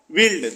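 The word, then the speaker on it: build: यहां पर लिखा है पहला बिल्ड तो बी यू आई एल डी बिल्ड यहां पर यू साइलेंट है दूसरा है बिल्ट तो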